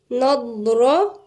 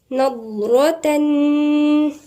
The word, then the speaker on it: نضرة: تعرف في وجوههم الضاد هنا تنطق من عند مخرج الضاد موجود عند ناحية الأضراس، مش من طرف اللسان، من عند الأضراس، ونفخم الحرف نضرة نضرة.